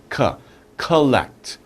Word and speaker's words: collect: Oh, and when you say it, don't say collect, say collect. Collect. Collect.